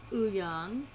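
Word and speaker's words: Youngs: We have Young's. Yes, it's spelled with a W, but it's pronounced Young.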